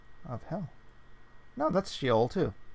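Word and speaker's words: Sheol: of hell no that's she ol - hmm which is pronounced she vowel she owl she al she owl interesting orcas David Roger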